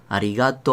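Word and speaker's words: ありがとう: mi garganta sin embargo la pronunciación va a ser una larga arigato o vale y va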